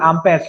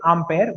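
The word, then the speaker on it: Ampère: Actual pronunciation is Ampere. We sometimes call it Ampere, but it is Ampere. Okay, the actual French pronunciation is Ampere.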